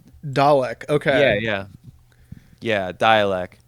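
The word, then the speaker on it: Dälek: okay yeah yeah yeah dialc I think that's the way you say it um okay I I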